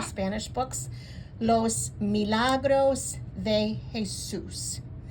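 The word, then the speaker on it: Jesús: books Los Milagros de Jesus see that accent over the U that tells you that that's where you put that emphasis Jesus so we have Los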